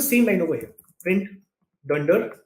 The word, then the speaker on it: dunder: The way you would pronounce this is you would say dunder name.